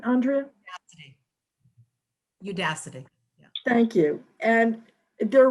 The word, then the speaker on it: Udacity: And she has fashioned a series of coaching videos for Unicity. Am I pronouncing that right, Andrea? Udacity.